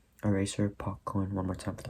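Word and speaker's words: پاک‌کن: Pakkon, eraser, pakkon. One more time for the pronunciation, this is a tricky one, pakkon.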